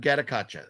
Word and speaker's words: Gatotkaca: darn it it's a hard one to say gottakacha Legend of gattacacha is how you say it legend of katakacha